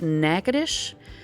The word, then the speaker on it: Natchitoches: is the way you pronounce it it is pronounced nakadish so just trust me on that one okay